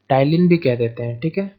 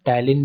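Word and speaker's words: Ptyalin: Amylase, और इसी amylase को कभी कभी हम टाइलिन भी कह देते हैं, ठीक है, टैलिन भी कह देते हैं, तो इस बात को याद रखिएगा। एमाइलेज को हम टैलिन भी कहते हैं, पी साइलेंट होती है, ठीक है, टैलिन भी कहते हैं।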